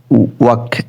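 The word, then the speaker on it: walk: এটা ওয়াক, এটা British American একরকমেরই উচ্চারণ হবে, এটা এলটা সাইলেন্ট হবে।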